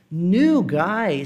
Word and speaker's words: new: Por mais que às vezes algumas pessoas tendem a pronunciar como new, a pronúncia dele não é new. É mais próximo de nu do que de new. É meio que uma mistura dos dois.